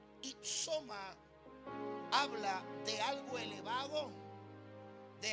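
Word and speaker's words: ὕψωμα: La palabra que se pronuncia i soma. Ipsoma habla de algo elevado,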